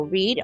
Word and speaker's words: reed: So reed, R-E-E-D, is like a grass bush. R-E-I-D is a name. And R-E-A-D is the action of reading a book.